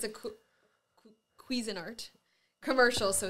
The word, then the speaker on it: Cuisinart: Cuisinart. Like you'll get queasy from. That's how it sounds.